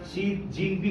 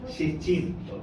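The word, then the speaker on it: 习近平: শি Jinping বলে ফেলছেন, শি জিন না, শি চিন, কোনো জিন না, ঠিক আছে? শি Jinping.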